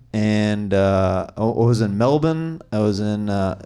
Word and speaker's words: Melbourne: I was in uh I say it like the locals Melbourne he did cuz Americans say Melborn yeah and all the local like that's not how we say it that's how they Su out of me we don't say it like that right uh so I